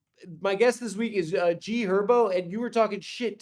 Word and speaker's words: G Herbo: The H is silent. It's G Herbo.